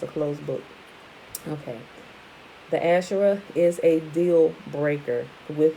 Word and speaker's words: Asher: so that would be asr would be alex shin resh and they pronounce it as asher the father of the